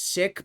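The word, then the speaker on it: Sikh: You don't pronounce it seek. It's pronounced sik, but white people say seek.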